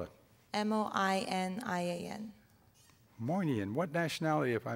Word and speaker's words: Moinian: moynian what's your second name how do you spell it m-o-i-n-i-a-n moinian what nationality if i may ask person